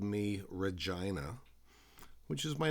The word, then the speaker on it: Regina: The jerks at school called Evie extra virgin, and the same boys called me Regina, which is my name all right, but they pronounce it to rhyme with vagina.